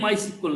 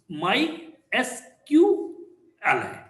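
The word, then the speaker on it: MySQL: माय एस क्य एल बहुत से लोग बोलते माय सीक्वल माय सीक्वल AIIMS सीक्वल यह माय सीक्वल नहीं माय एस क एल ठीक यू कैन प्रोनाउंस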